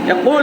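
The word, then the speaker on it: قُلْ: কুল হু আল্লাহু আহাদ, এই কফটা উচ্চারণ করতে হবে এই গলার মাঝখানে, কুল। সবাই বলেন কুল।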